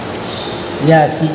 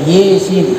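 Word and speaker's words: يس: pinggirnya, menurut Imam Al-Kisai, Yasin ini dibaca Yesin atau dibaca Imalah, dibaca E. Ini kadang-kadang kita nanti kalau tidak pernah dengar, ya mungkin asing, ini bacanya salah, padahal mereka ada rujukannya juga. Yesin ini menurut Imam Al-Kisai itu Imalah. Wal bakuna bil fathi. Nah, dan banyak ulama yang menggunakan fathah atau ya.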